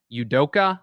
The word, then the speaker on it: Udoka: but his uh and i hope i get his name right but emway um udoka i believe is how you say it the boston celtics head